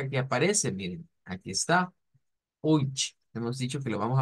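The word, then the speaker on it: euch: Decimos que se pronuncia con la misma, miren, CH del ich, con esa CH que es más suave que la CH nuestra, oich, a oich.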